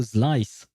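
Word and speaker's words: Xlice: There is also Slice. Uh although I I think that's how you pronounce his name. It's written X L I C E.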